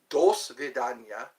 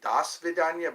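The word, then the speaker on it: до свидания: Dos vidania. I keep getting corrected whenever I say, I used to say das vidania, but it's dos vidania. That's how you say it in Russian.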